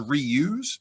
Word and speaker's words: Re-Use: sustainability in social entrepreneurship it rhymes the word reuse and it's called re-use but we help everybody